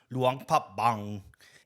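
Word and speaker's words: Luang Prabang: The province of Luang Pbang or as it's more properly pronounced Luang Papang isn't in Vietnam at all but rather in Laos.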